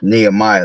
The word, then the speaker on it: Nehemiah: Nehemiah. That's how you say it.